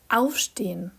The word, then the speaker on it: aufstehen: Como eu expliquei no meu vídeo anterior sobre a pronúncia do alemão, os verbos separáveis são acentuados no prefixo. A pronúncia dos verbos seguintes são aufstehen, anziehen.